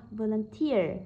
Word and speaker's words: volunteer: Vậy từ volunteer này bản thân có từ ear. Khi trong câu có từ ear thì trọng âm rơi chính vào từ đó luôn nhá, rơi chính vào từ đó luôn. Vậy từ này rơi vào âm tiết thứ ba, volunteer, volunteer.